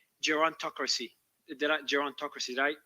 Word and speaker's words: gerontocracy: It's called gerontocracy. Gerontocracy? Did I pronounce it correctly?